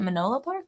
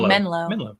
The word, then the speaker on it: Menlo: on a rocket Farm is it Manila Park no Menlo what did I say